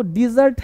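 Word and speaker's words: dessert: होता है अब देखो डेजर्ट है मिठाई डेजर्ट है रेगिस्तान अब देखो स्ट्रेस बदलने से मीनिंग िंग बदल जाता है।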